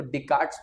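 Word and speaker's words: Descartes: अब अगेन इसको बहुत तरीके से प्रोनाउंस किया जाता है। जहां पर यूजुअली एस साइलेंट होता है। तो डिक्ट्स पढ़ते हैं। बट अगेन मैं गलत साउंड कर रहा हूं तो अगेन दैट इज़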